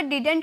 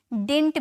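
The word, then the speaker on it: didn't: डिड नॉट का contraction, इसे हम डिडंट भी बोल सकते हैं या तो हम इसे डिंट भी बोल सकते हैं, ठीक है। इसकी दोनों प्रोनाउंसिएशन की जाती है।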